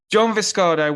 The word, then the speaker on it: John Viscardo: Have I pronounced that right? Actually, You nailed it. Yeah, nice job. John Viscardo, welcome.